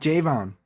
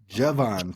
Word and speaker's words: Javon: I've had people send me messages over the last couple weeks saying we keep saying his name wrong. So apologies to my dog. Javon Tracy, not Javon. Javon Tracy.